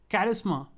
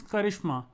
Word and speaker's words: charisma: Charisma. The Indian version is charisma. The English way is charisma.